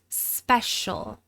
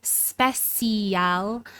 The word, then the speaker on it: special: Notice that I'm not saying special. These sounds come together to form a sh sound, and we really reduce that final vowel to the point where you really only hear the dark L sound.